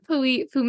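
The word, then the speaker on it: Pouilly-Fumé: Blanc from s and poy fum which I learned you do not pronounce the two L's in poy fum it looks like p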